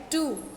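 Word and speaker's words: two: Like टू, तो यहाँ पर W जो है ये साइलेंट है.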